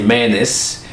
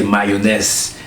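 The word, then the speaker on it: mayonnaise: was born things like americans would say menace where i came from who would say mayonese my pronunciation yes but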